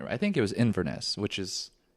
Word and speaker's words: Inverness: I think it was Inverness, which is it's right near there, pronouncing that correctly.